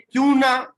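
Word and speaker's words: Couinaud: हम लोग कहते हैं क्यूना क्वालिफिकेशन। देखिए लिखा हुआ तो है CAUINAUD, है ना, लेकिन इसको प्रोनाउंस करते हैं क्यूना क्लासिफिकेशन।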